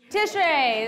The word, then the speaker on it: Tishrei: So last class, we were speaking about the month of, please tell me you remember, rhymes with Lishrei, Tishrei, the month of Tishrei.